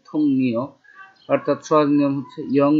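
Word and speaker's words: 동료: আর এটা লেখা আছে থং রিও লেখা, নর্মালি ইয়ং বা চিমের পর রিও আছে, থং রিও লেখা, কিন্তু উচ্চারণ হবে থং নিও।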